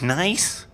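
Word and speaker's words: gneiss: generic be is pronounced nice pronounced nice the g is silent and the ne is like an eye yeah so I found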